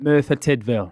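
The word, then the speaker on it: Merthyr Tydfil: a town how do you say it again Mera tville is that where you were born I was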